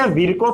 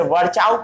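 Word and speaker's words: Virchow: कई लोग इसे विर्को पढ़ते हैं, कई लोग इसे वर्चाउ पढ़ते हैं, कई लोग इसे वर्षो पढ़ते हैं। जो आपको पढ़ना है वो पढ़िए, सब सही है।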